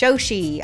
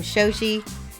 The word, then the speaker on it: Shi: much for the follow how do I say my name my name is Shi I am Shi shi's magnificent Miniatures and